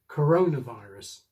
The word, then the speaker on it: coronavirus: English compounds are quite tricky, but the basic rule is for the main accent to go on the first word. Airport, seat belt, history test, interest rate, coronavirus. This is different from many other languages, which would make the second word more prominent: coronaVIRUS.